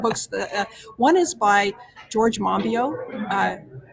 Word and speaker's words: Monbiot: One is by George Monbiot, spelled Monbiot. Don't pronounce the T. George Monbiot.